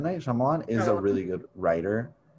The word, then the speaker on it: Shyamalan: Shyamalan. M. Night Shyamalan is a really good writer.